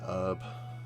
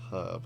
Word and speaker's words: herb: in the American way Americans say an herb because they don't say the H is in the word herb it's a herb not an herb silly Americans find a